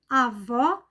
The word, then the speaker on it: avó: e recebe assento gráfico avô avó avô fechado avó aberto vamos ver um exemplo meu